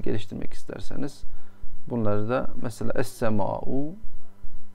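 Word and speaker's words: السماء: Yani kelime hazinenizi geliştirmek isterseniz bunları da mesela es-sema'u, es-sema'u diye okunur ama lam yazılır tabi.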